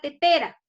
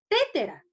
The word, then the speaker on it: tetera: ¿Yo cómo pronunciar? Tétera. ¿Es correcto decir tétera? No, profesora, ¿cómo se debe pronunciar? Tetera, correcto.